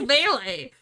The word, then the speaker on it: melee: combat Styles Haley melee melee how do you pronounce it it's melee you should go get yours now you've seen